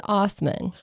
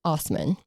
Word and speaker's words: Assman: It's Hans Osman. My bad. It's spelled assman. And a lot of people will refer to him as pronounced Osman.